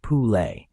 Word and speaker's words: Pule: This is the story of Pule, pronounced Pule, the Serbian word for foal.